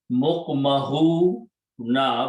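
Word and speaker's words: مُقْمَحُونَ: Mukmahu na, when you stop, pronounce mukmahun.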